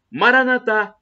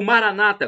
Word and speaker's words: Maranatha: Jesus é o tamo Maranatha como dizemos nós católicos com a tônica na última sílaba ou Maranata com a tônica na penúltima sílaba como dizem nossos irmãos separados os evangélicos ou protestantes não importa somos todos